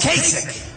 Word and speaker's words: Kasich: So they formed this coalition of Cruz against Kasich. Even though it's pronounced ICH, it's Kasich with a K, like with a K, okay? Think about K.